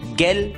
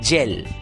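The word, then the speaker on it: gel: आया है और इसलिए उस शब्द का उच्चारण गैल ना होकर उच्चारण हो गया जेल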